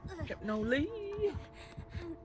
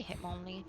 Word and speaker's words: Hitmonlee: Hypnoly. It is a Hitmonlee.